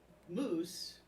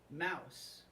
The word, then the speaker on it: mousse: And she pronounces the word mousse, mouse. Okay, so she calls it the chocolate mouse.